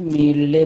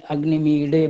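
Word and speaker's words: अग्निमीळे: ये महाराष्ट्रीय पद्धति में मीले बोलते हैं, और यहाँ अपने उत्तर वाले ये जो यहाँ रहते हैं काशी बनारस की तरफ, तो ये जी। लोग अणा का पूर्ण उच्चारण करते हैं, अग्निमीडे बोलते हैं वो लोग। तो इसमें ले भी बोला जा सकता है, डे भी बोला जा सकता है।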